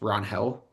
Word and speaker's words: Ranger: Apparently, it's Ron Hell, and we've been pronouncing it wrong the whole time.